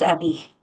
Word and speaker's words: Emmy: Is it Emmy? I want to make sure I'm pronouncing your name correctly. Yes, it's Emmy.